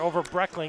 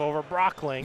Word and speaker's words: Oberbreckling: So Oberbreckling is how this is pronounced. Yeah, it doesn't have the O in there, over Breckling instead of over Brockling.